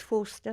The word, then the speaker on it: Forster: Yeah, and it's Forster, not Foster.